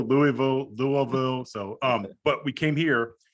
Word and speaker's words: Louisville: It's pronounced 8,000 different. There's actually a shirt that has like 15 pronunciations. I know. I was gonna ask, and I was like, that should be this. This should be right. It's Louisville, Louisville.